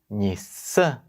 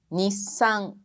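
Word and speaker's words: 日産: Quando a gente fala Nissan, como Takashi Sensei, são 2 sílabas. Mas em japonês é Nissan. Também se conta como uma sílaba.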